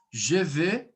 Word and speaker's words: je vais: No ir, a gente vai trabalhar a pronúncia um pouquinho mais aberta. Je vais. Então, abertinho, ó, je vais.